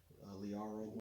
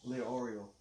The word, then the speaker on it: Leorio: Gon, Killua, Kurapika, Liaro. So. How do you say his name? Leorio.